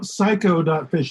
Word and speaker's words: saiko.fish: So psycho.fish is spelled SAIKO.fish.